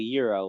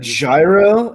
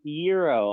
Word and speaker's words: gyro: it yeah that's money no that's a gyro i'm talking about euro like the sandwich that gyro a euro yeah i've never had is that what it's pronounced hero i'm going to get mad not gyro but i say gyro because it's funny oh yeah i didn't know